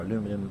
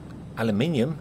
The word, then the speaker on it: aluminium: It's going to require aluminum, copper, aluminium. It's spelled with an I.